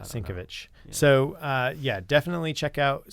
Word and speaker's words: Sienkiewicz: Yeah, so I've always heard it pronounced as Sienkiewicz, but that's it, Sienkiewicz.